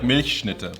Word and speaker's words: Milchschnitte: -"Mish...nite" -Yes, that's exactly how you pronounce it. That's more like "Milchschnitte". But yeah! You were close!